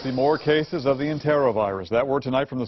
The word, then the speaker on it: enterovirus: Enterovirus is how we typically pronounce it, but certainly enterovirus we've heard.